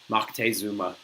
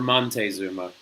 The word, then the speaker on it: Moctezuma: So, in an effort to try and turn him away, you had the king of the Aztecs, Moctezuma, or Montezuma, or whatever the heck the other third pronunciation is.